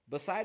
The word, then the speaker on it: beside: Beside is not really correctly written. Why? Just because I don't see where to put the stress mark. I know the stress is on side, so it's beside.